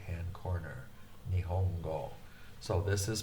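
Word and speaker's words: 日本語: Nihongo. So this is pronounced ni. Ni. Whoops, I didn't want to do that quite yet. Ni-hong-go.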